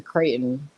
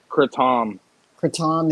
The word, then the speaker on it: kratom: having the coffee with a creighton or kratom in it it's kratom is how you say it yeah there's actually for